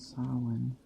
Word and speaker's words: Samhain: where the holiday of today is known as sa spell spelled s a m h a i n s if you other pronunciations are or of course it's a